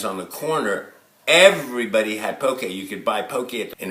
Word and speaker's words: poke: guys is it pronounced pokey or is it pronounced poke a it's pronounced pokey and that's what I'm gonna be making today